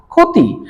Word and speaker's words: ক্ষতি: ক্ষীয়টা কোথায় আছে? শব্দের প্রথমে। তাহলে এই কারণে এই ক্ষীয়র উচ্চারণটা শুধু হবে কি, ক্ষয়ের মতন, খার, ক্ষতি।